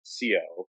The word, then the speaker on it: Ceo: And so it went from CEA, pronounced, to CEO, pronounced CO, and it's been like that for generations now.